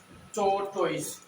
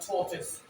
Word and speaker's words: tortoise: मैं लिखता हूँ TORTORESE, इसको हम बोलते हैं टॉर्टोइस, बट करेक्ट प्रोनाउंसिएशन है, सॉरी, फर्स्ट साउंड है था, second sound is ओ, सो टो, and then third sound is ta, and sa, so ये बनेगा tortoise, tortoise, tortoise, tortoise।